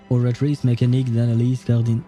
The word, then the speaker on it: Oratrice Mécanique d'Analyse Cardinale: all the kurukurus, the oratrice mécanique d'analyse cardinale. Well, I should not pronounce it with an English accent. I should say it with a French accent.